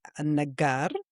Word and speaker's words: Al-Nagar: apparently I just learned we're not supposed to pronounce the L. Even in my surname, In Arabic, my surname is, and you're supposed to be Al-Nagar, and we have Ammar Al-Banna.